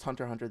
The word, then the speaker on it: Hunter x Hunter: It's just Hunter x Hunter, the X is silent.